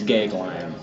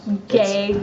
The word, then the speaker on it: Goeglein: You didn't try to pronounce my last name. I did not. Okay, it's Goeglein. Goeglein. Goeglein.